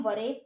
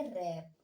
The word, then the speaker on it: wrap: अब देखिए WRAP, इसे हम वरेप पढ़ेंगे क्या? नहीं, इसे हम पढ़ेंगे रैप। यहाँ भी W साइलेंट है।